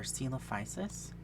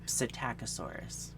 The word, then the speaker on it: Psittacosaurus: It's got a P in front of it. It should be coming up on the screen now. So I like to say Psittacosaurus, but people say Psittacosaurus or Psittacosaurus or something because it has a P, and I like to say it.